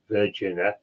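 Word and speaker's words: Vergina: It's also called the Vagina Sun, but it's spelled not as in a, it's spelled V-E-R-G-I-N-A, Virgina, and probably Sun, and also known as the Macedonian Star of ancient Greek origin.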